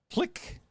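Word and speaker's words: Tlacique: it like 90 times it's t l a c i qu e and every time I said like how do you pronounce that they go click so the click they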